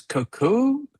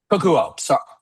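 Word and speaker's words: Kokuho: Cuckoo. Sorry, Kakuo. sorry. Kokuo.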